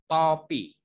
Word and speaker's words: topi: And this, there are two kind of pronunciation for the letter O. In the word, in this word, you read soto, but in this word, you read topi. Soto, topi. Soto and topi.